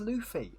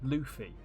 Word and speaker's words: Luffy: Oh, is it pronounced Luffy? Oh. Okay then. Okay, see, I've never watched it. I've only ever seen it written down. U in Japanese is U.